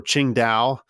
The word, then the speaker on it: Qingdao: Sing Sing taob uh or qingdao I think that's closer to how it's pronounced today but uh Singh